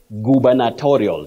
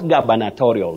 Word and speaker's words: gubernatorial: havei at donore 0168 you say gubernatorial not gorial that one is about the job of a governor yeah goba not Gaba gubernatorial so Betty the list